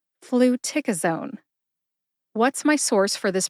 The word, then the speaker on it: fluticasone: you go put all four syllables together and you get flua Zone emphasize tick see if you can hear tick emphasized when I say it again flu tick aone what's my source for